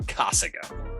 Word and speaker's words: Casago: off, this episode is brought to you by Casago. And if you haven't heard of them, then here's the deal. Casago helps bring the biggest tech and strategy to